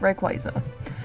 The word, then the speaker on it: Rayquaza: But we're pronouncing it Rayquaza.